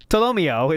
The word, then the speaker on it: Tolomeo: Tolomeo is the correct way to say it. Tolomeo. Toloemo.